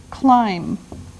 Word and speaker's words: climb: Now, the first verb is climb. Climb. Now, it doesn't sound like it looks. Now, if this letter, B, is silent, climb.